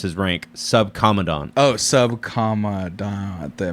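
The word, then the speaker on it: Subcomandante: well it's not his name it's his rank sub commandant oh sub comma at the Marcos okay is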